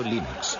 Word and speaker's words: Linux: eso se pronuncia Linux Bueno yo Linux lo pronuncio Linux sin embargo si fese Lin no hayuda de